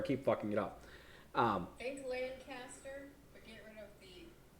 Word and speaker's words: Lancaster: That's pronounced Lancaster, not Lancaster.